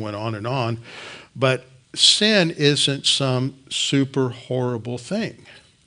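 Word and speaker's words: synne: It comes from an old English word that would be pronounced the same, sin, S-Y-N-N-E.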